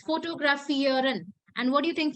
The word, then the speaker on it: fotografieren: It's fotografieren. And what do you think fotografieren can be? Photography. To photography, Rishtish. So fotografieren, that means to take photos.